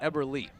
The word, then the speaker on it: Eberly: me know it's ever lee and not ever lay that is exactly why